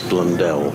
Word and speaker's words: Blundell: The pronunciation of Tom Blundell or Blundell, and we've decided it's Blundell.